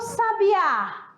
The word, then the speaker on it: sabiá: está na segunda eu e o sabiá sabiá a sílaba mais forte está na última então quê que você